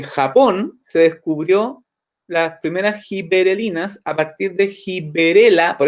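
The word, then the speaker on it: giberelinas: Ojo, no son gibrelinas, son gibberelinas. ¿Ya? Es muy común que cuando la gente las pronuncia como gibrelinas y eso está mal. ¿Ya? Es gibberelinas.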